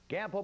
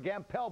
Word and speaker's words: Gampel: We take you live right now to Gampel Pavilion or Gampel Pavilion, depending on how you want to pronounce it. Either or is fine.